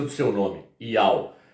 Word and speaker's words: Yahweh: pronúncia do seu nome, Yahweh. O Yod é o I, o Re é o A, o Vav é o U.